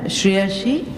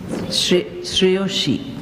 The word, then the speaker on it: Shreyashi: To speak against the motion, from Group D, we have Shreyashi. It's pronounced Shreyoshi.